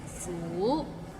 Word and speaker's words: 苦: Maybe it's the second tone that's hard to pronounce. Like 苦. It's kind of like when you ask, is the parking lot full?